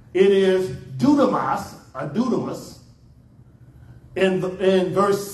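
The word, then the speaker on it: δύναμις: And it's dunamis.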